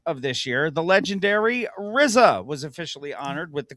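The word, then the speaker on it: RZA: The legendary Rizza was officially honored with the culture pronounced like pizza.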